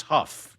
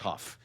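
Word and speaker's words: Haugh: He's It's It's Huff, by the way. It's not Haw. It's spelled the same as Haw. Okay. Pronounced Huff.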